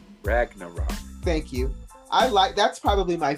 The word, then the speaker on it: Ragnarok: I always pronounce it wrong. Ragnarok.